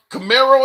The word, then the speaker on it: Camaro: Camaro, is that? Am I pronouncing that right? Yeah, it's Camaro.